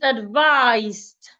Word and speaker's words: advised: As a verb, the S sounds like a zed. So the ed there sounds like a d.